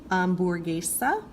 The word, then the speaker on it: hamburguesa: The H is always silent. Ignore it. Pretend like it's not even there. Just go straight to whatever the next sound is. So this is hola, hamburguesa.